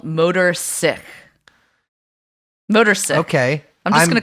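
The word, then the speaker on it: Sich: cool motorcycles yeah yeah so it's spelled motor as in motor and sick as in s-i-c-h uh now this is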